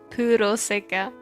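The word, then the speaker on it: プロセカ: Puraseka. I'm gonna call it that, Puraseka. Or is that how it's pronounced in Japanese? Paraxai? No, it's literally Puroseka.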